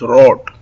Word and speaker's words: rot: we call rot w in German language we pronounce red as rot then there is blue blue and we call